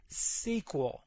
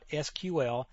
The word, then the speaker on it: SQL: way to pronounce this you will hear it pronounced all kinds of ways the correct way as you see right here is SQL as if it was spelled out s qu